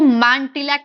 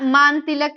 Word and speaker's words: Mantilac: इसको मांटिलैक बोलते थे पहले, MANTILAC, मांटिलैक। नेक्स्ट, पहले यूरोपियन जो यार ये ना मान तिलक नहीं, ये वो प्रोनाउंस अंग्रेजों का है, मान तिलक, वैसे तो मान तिलक की है, MANTILAC।